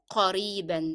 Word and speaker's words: قريبا: soon, and that is the n sound in قريبا is part of the pronunciation of the word, so you cannot drop it as you stop. You have to say it with the tanween. أراك قريبا, the sound should be apparent in pronunciation.